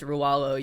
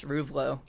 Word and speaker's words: Ruvlo: Lowe even it's like and people pronounce the name wrong all the time because like my last name's rawalo you would imagine it's ruvlo right and like someone is what I still